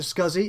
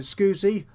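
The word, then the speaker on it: SCSI: on would be scuzzy I pronounce it scuzzy if you pronounce it scoozy you're wrong simple end of conversation sorry so I could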